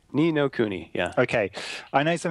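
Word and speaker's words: Ni no Kuni: nino Kenny anymore but how's it pronounce properly me no kuni knee no kuni yeah okay I know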